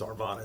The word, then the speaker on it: Arvada: I think it's Arvada is how it's pronounced, Arvada.